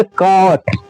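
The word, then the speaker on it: caught: इसको हम साइलेंट कर देंगे जी एच को। को हम क्या करेंगे? साइलेंट कर देंगे। सब सिर्फ अब यहां पढ़ेंगे हम टी को। तो यह हो गया आपका ट। इसको हम पढ़ेंगे कॉट।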